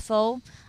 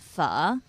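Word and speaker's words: phở: most popular pho, or some people pronounce it as pho. Correct way would be, just adding a question mark on it, pho.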